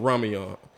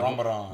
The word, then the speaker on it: Ramadan: up going there doing Raman what did I say it right yeah Ramadan Ramadan my bad I went there doing